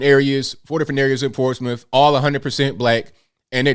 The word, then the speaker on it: Portsmouth: in a place called portsmouth virginia and if you want to look it up it's pronounced port's mouth we say portsmouth that's